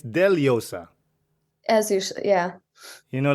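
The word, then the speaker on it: Dellosa: it exactly exactly like my last name is deleosa it's d-e-l-l-o-s-a yeah here in the Western World they will say delosa right yeah before I was like yeah it's okay cool but now I'm like no no no dude actually it's deliosa as usual yeah you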